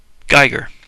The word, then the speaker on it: Giger: Does it say how to pronounce his name on here? Geiger, according to Wikipedia.